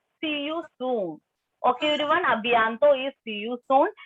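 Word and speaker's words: à bientôt: Ensuite, the next one, second one is abianto. Abianto. Wait, abianto. Abianto means see you soon. Okay, everyone, abianto is see you soon. Ending letter T will be silent here. Abianto.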